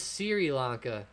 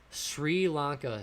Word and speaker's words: Sri Lanka: that wrong for you but it's pronounced sri lanka sri lanka not sirilanka so gotcha so sri